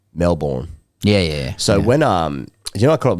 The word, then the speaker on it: Melbourne: I know you're copping in Melbourne and Perth is the same, but when do we rise up and call it out?